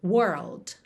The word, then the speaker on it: world: tem dificuldade de pronunciar esse conjunto aí de RL, é você primeiro ir somente até o R, pensando no R enrolado da porta com a perna esquerda. Então, aqui no caso, were, porta, were, tá? Depois, você põe o L, língua no céu da boca, whirl. E aí é só fechar com o D, world.